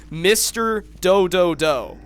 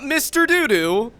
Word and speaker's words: Mr. Do: seen my channel, and nobody pronounces the original name right. I think I said it earlier in this rant. Mr. Do. That is how you say it. That is how you say the channel. Mr. Do. It is that simple. So, it's not Mr. Doo-Doo.